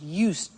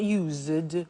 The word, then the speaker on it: used: listen to the pronunciation I said used with T sound used not use it or use ed used